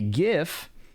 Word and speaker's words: GIF: And he shows a GIF, which is the objectively correct pronunciation of the word, by the way, of the different proportions before and after the patch.